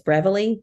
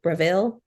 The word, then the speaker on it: Breville: It's Breville, Breville, but it comes from Williams Sonoma.